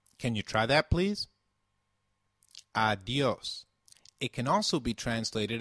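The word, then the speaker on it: adiós: Did you notice the accent on the O in adios? If a word is marked with an accent, then that syllable receives the stress.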